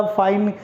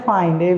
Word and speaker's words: feigned: यहाँ पे वो वाला फाइंड प्रोनाउंसिएशन सेम है, मीनिंग अलग है। सो यहाँ पे क्या है? फाइंड, FEIGNED, फाइंड होता है।